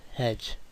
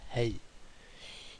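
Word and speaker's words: hej: is not pronounced as hedge. Instead, it is commonly and mainly pronounced as hey in standard Swedish, as word for hello.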